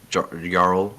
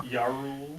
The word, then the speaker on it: Jarl: The only survivors among the castle were Chief Jarl. I'm going to say it right now. Yarl.